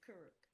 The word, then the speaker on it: Kuruk: I can't pronounce his name. I'm gonna say it's Kuruk. Kuruk. Yeah, it is Kuruk.